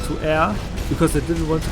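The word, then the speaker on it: Ayre: voice changes it is because I changed the IRA to air because I didn't want to come off as absolutely stupid for pronouncing it wrong but I was playing Japanese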